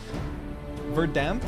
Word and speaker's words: Verdamped: Verdamped is like Verdammt in German.